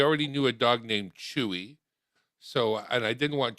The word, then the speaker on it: Chuu: So it's actually CHUU. Chew.